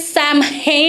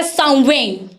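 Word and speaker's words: Samhain: यहां पे देखने में है सैमन लिखा जब लग रहा है। लेकिन इसे इसकी प्रोनाउंसिएशन जो है वह है सवेन। सवेन।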